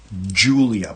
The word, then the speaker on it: Giulia: Now the final watch is going to be, I believe it's called the Julia, but it's spelled Giulia.